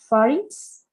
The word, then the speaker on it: pharynx: Pharynx? Yes, perfect. Making the X sound. It's very important. I used to make the mistake that pronunciated without the X.